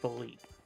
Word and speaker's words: Philippe: And apparently it's not Felipe, it's Philippe.